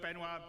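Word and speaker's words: Benoît: And without me waffling on, I'd like to bring CIG's CTO, Benoit Bézageur.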